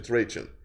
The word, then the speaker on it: Trajan: now this man trajan i'm using the english pronunciation trajan he came ah hold